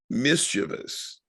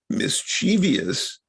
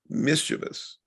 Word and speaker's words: mischievous: actually gets a dictionary entry as an alternate pronunciation mischievous is the correct word and pronunciation mischievous is not it's not spelled that way it's not pronounced that way it's mischievous correct now now and i've heard i i'm